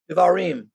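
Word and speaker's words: דברים: So that's what we get into here as we come next to the next section of, am I pronouncing this right, Don? Devarim? Devarim.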